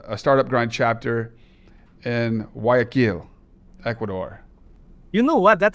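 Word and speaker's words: Guayaquil: Gaquil. Well, it's it's actually Oh, it's like the G is silent. Aquil.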